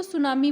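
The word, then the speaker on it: tsunami: और हवा के भी सुनामी 30 में साइलेंट रहेगी बेटा तो सुनामी नहीं बोलना आपने इसको सुनामी बोलना है इसका मतलब लहरी ऊंची-ऊंची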